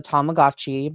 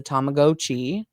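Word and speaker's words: Tamagotchi: the first one and you told me the correct pronunciation uh which I was always raised that was a tomagotchi but it's a tomagoi yeah it's a tomagoi every video that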